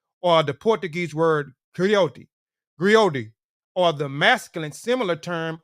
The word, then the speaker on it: griot: griac or Jolly profession Encompass many roles griac pronounced griot have been referred to as historians and storytellers